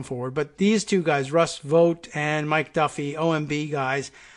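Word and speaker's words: Vought: tweet from Russ vote is that how we pronounce the vo ug HT Russ vote is the is actually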